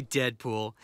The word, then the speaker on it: Deadpool: Call me Deadpool. It rhymes with no school.